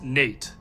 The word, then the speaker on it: Nat: Together, they had 3 children, a daughter named Sally, and 2 sons, Jordan and Nat, the latter's name often pronounced as Nate.